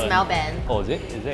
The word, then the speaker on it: Melbourne: in Australia is actually how you pronounce it pronounce Melbourne oh is it is it yeah okay so